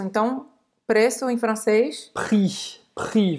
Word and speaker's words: prix: Prix. Você não vai pronunciar esse chiche. Tu ne vas pas prononcer ce X. Chiche em francês é X.